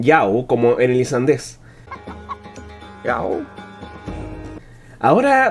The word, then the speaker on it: já: sueco se dice efectivamente ya pero en el islandés en su lugar se dice yau una diferencia sutil pero